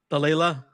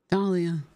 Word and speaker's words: Dahlia: morning wait how do you say your name Delilah no clothes Dahlia Dalia how's your day huh um well the